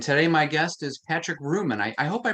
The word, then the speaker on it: Reuman: And today my guest is Patrick Reuman. I hope I pronounced your last name right.